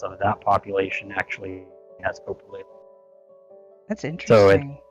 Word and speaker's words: coprolalia: You said coprolalia? Yes. I have been pronouncing it wrong this whole time.